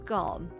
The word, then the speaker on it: Golem: which is of course Golem much to a surprise this ends up being pronounced like Gollum anyway on side note gtn